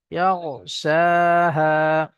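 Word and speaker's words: يَغْشَاهَا: গইনটা উচ্চারণ করার সময় ঠোঁট দুটো গোল হয়ে যাবে। ইয়াগো, ইয়াগো, ইয়াগশাহা।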